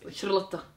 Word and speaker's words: Charlotta: It's Charlotta. Charlotta, without the A, pretty much.